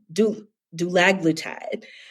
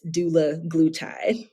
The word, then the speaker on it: dulaglutide: so many times because when i learned it i was taught uh do do lag blue tide but i talked with eli lilly and it's doula glue tie is how the creator pronounces it okay well thank you